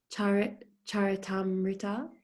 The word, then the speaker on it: Charitamrita: his memoirs, which were recorded in the Chaitanya Charitamrita. Is that how you pronounce it?